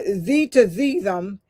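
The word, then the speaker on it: tzimtzum: Then number five is I'm not going to pronounce it with the with the T uh Z to Zum and it's spelled T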